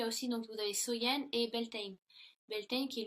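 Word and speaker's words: Samhain: donc était samen donc qui est prononcer qui se prononce soyen et donc il croyait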